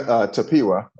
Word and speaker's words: Tapiwa: And in today's episode, we are interviewing Mr. Tapiwa. Is that how I pronounce it? Yeah, Tapiwa, or Taps for short, either's fine.